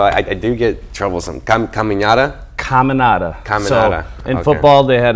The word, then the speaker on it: Caminata: Caminata. So in football, they had a cheer that they made just for me. It was Dom Caminata, nowhere. So really? that's how you can remember how to pronounce it.